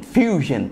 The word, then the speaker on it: Fusion: um Motorola One Huge Fusion Fusion é assim que pronuncia motor orfield e o